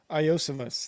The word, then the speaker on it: Iosivas: I can never pronounce this guy's name. Adri Iosivas. Iosivas.